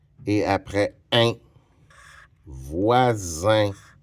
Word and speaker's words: voisin: J'ai besoin d'un S et après un voisin. Le S prononce comme un Z parce qu'il est entre deux voyelles.